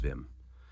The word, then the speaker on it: Wim: It's spelled like Wim, but he's Dutch. It's Wim.